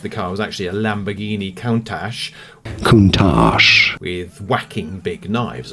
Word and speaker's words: Lamborghini: Lamborghini is how it's said in Italian.